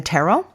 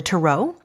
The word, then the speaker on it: tarot: i had begun reading the tarot or the tarot which is the way we pronounce it um by the time